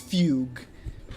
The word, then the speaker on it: fugue: It's just fugue as in fugue state. It's It's a single syllable.